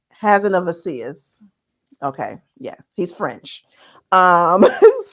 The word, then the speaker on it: Hazanavicius: Okay, I spelled this out phonetically. So hold on. I'd say now you're like me. Right, it's Michelle Hazanavicius. Hazanavicius.